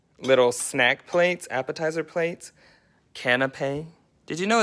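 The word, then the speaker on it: canapé: snack plates appetizer plates canape did you know it's pronounced canape i thought it was canopy for the longest time but it's kind of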